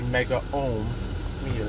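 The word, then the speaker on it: megohmmeter: Mega meters I pronounce megameter uh because it's all one word if it was separate say mega ohm meter but it's Mega ohm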